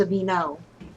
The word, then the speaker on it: Aveeno: When you spell it like that, it is. And it's Aveeno to be, I think. I'm pretty sure it's Aveeno.